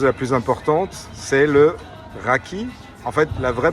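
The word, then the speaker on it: rakı: Et nous avons un i euh qui ne prend pas de point et ça se prononce e.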